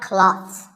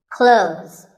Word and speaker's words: clothes: Well, first of all, this word is not cloths. When we say clothes, the TH in the middle can often be silent. Clothes.